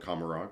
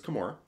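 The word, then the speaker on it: Commorragh: I learned the pronunciation of that recently. I always called it Kamarog, but it's Kamora.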